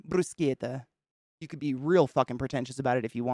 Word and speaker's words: bruschetta: what's the other Italian there's a lot of Italian words that we've just grown up pronouncing totally wrong in America uh bruschetta bruschetta if you go to Italy brusquieta you could be real